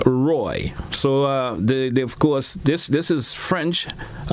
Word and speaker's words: Roi: Thus, Grand Roy is spelled the way it is, ROI, is correct, but pronounced Roy.